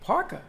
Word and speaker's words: parka: Parka. There's no R at the end. There's an R in the middle.